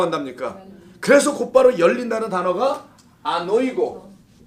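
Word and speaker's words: ἀνοίγω: 그래서 곧바로 열린다는 단어가 아노이고. 어떤 분은 이걸 또 안하고라고 발음하시는 분이 있는데 안하고가 뭔지는 아시죠, 여러분? 아유, 벌써 군침이 돌기 시작하고 그런데 이 아노이고예요.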